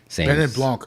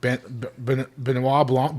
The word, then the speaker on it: Benoit Blanc: Benoit Blanc. Oh, man, I'm saying it wrong. Benoit Blanc.